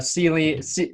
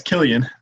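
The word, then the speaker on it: Cillian: Well, I think of Celian. What's his name? Celian. Ceiling. Celian. Kian. Is it Kean Murphy, the actor? That's Killian. Killian.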